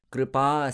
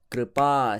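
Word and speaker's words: kṛpā: Kripa sindhubhya eva cha, tatan tan tan tatan tatan. Kripa sindhubhya eva cha. It's not kripa, it's always kripa.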